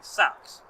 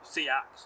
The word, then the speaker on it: seax: sax to um seaks and but we still pronounce it sax and some days I pronounce it seaks or saxs and some days I pronounce it